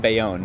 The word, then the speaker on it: Bayonne: How do you pronounce that? Bayonne.